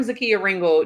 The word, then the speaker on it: Zakia Ringle: I say my name I'm Zakia Ringle just in case I have not said that but you're watching me on something that says the Kia Ringle but you might not have known how to actually pronounce that so there you go and so as I